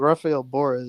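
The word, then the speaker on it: Rafael Borré: I mean, like, shout out Rafael Borra as well. That's how you pronounce his name.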